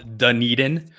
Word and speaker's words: Dunedin: make sure everybody's aware it's pronounced dunedin um you can see